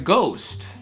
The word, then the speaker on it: ghost: В слове ghost это H, в принципе, там и не должно быть в произношении. Ghost.